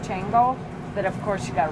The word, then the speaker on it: Xango: it's called Xango but it's spelled Xango but it's pronounced Chango but of course you